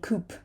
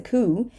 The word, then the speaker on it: coup: try so raspberry raspberry coo a coup We're not gonna say Coop right it's a coup and this word is